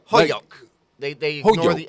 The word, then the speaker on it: Holyoke: What about a town around here that's mispronounced? Ludlow, you can't get. Chicopee is easy. Springfield. Yeah. Holyoke. Holyoke. Is it Holyoke or is it Holyoke?